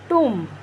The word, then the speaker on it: tomb: Like एक बहुत common सा word है tomb, लेकिन आधे से ज़्यादा लोग इसको कॉम्ब के एनालॉगस पढ़ते हैं, जैसे कि कॉम्ब कंघी होती है वैसे ही टॉम्ब